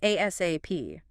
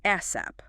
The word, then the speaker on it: ASAP: Or if it's urgent, the source mentions using ASAP, and I'll get back to you ASAP, pronounced ASAP or ASAP.